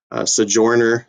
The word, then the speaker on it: Sojourner: Sojourner is how that is pronounced, Sojourner Truth.